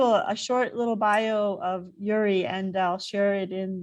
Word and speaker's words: Yurij: Joining us from the East Coast is Yurij. Am I pronouncing Yuri correctly? Yes, silent J.